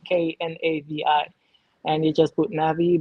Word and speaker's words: Knavi: As long as you remember that there is a K and the K is silent. Knavi.